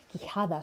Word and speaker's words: Quijada: Quijada spelled with a Q, not a K. Not with an H, but a J. Quijada.